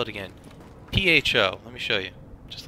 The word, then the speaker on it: pho: P-H-O. Let me show you. Just like this. You know, it's not the way you would expect it to be, but it's pho.